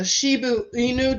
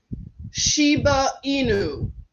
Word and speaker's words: Shiba Inu: them see what you think let's see a Shibu Inu did I say it right Shiba Inu yeah cute dogs they're uh it's a sheep